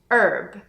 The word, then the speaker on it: herb: Essas palavras são our, honest, honor, air e a maior parte das pessoas também pronuncia a palavra herb, não herb, mas herb.